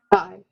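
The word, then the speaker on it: καί: So, and then just try to pronounce it. The first word starts with a kappa. Kai.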